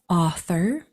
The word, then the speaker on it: author: So this word is author, authority, autograph, and restaurant. That AU says ah.